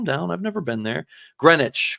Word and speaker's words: Greenwich: like hey calm down I've never been there Greenwich Greenwich Connecticut is where the Brunswick school is I